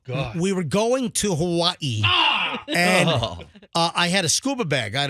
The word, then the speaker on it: Hawaii: We were flying to Hawaii. Michelle and I and the kids, we were going to Hawaii.